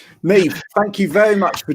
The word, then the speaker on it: Niamh: Is that how you pronounce it? Yeah. That's it. And I got Neve right, yes?